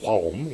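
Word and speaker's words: 화엄: So when Rizang eventually returns to Korea, where he establishes a Korean branch of Hwayen, which is now called Hwaum in the Korean pronunciation, So he was actually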